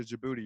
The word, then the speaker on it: Djibouti: more what's another one Djibouti Djibouti it's a question shabooey it's a country in Africa it starts with a D and then it's DJ and its own Djibouti that's how you say it's pretty classic well